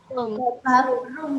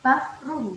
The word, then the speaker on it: bathroom: Bathroom ya. Nanti kalau mau sebut bedroom nanti sama dengan tempat tidur. Bath ya. Jadi membacanya seperti huruf F. Bathroom.